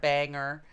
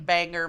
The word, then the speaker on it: Bangor: lot of people pronounce they try to pronounce bangor as banger banger Maine Bangor Maine is Bangor anger its Bangor Bangor